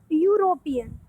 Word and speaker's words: European: before those words that begin with a vowel pronounced with the sound of a consonant. Means they starts with a vowel but their sound is consonant, like European.